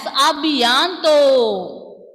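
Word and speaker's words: à bientôt: And when laxo-circumflex when you see with the vowel letters, will the pronunciation of these alphabets change? Will the pronunciation change? No. Yes. So it will not change. O will pronounce as O itself. No change in pronunciation. So you can pronounce this word as abianto.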